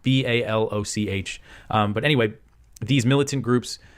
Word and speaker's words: Baloch: Pakistani officials said the strikes targeted 7 locations used by ethnic Baloch. I believe that's how you say it. That's the ethnic group Baloch or Balak, Baloch.